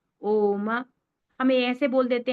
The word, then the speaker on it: ओम: ओम इति एक अक्षरम ये जो ओम है ये जो उच्चारण है जिसको बताया था यद अक्षरम है ना जो ये है ओम तो ये तीन अक्षरों आ उ और म है ना और इसके